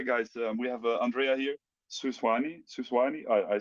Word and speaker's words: Suisani: The actual pronunciation is Suisani. Suisani.